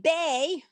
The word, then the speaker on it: bay: its own for example i could say bay b-a-y you don't pronounce the y but it makes the a the long a sound or i have the